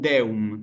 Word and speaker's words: Deum: Y en el caso de Deum, Deum.